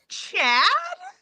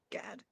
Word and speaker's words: Ghad: it's spelt GHAD, and he gets upset, and when people call him Gad, that's not his name. His name is Chad.